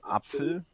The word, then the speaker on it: Apfel: Well, it's pronounced Apfel.